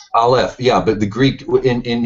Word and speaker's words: aleph: You know, it's the transition from not the Alpha, man. You're not even pronounce. It's called the Aleph. Aleph, yeah, but the Greek in Hebrew, there's a theory that.